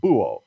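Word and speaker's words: búho: at work you don't you don't pronounce the h in this particular word it's just booo and el buo is the owl so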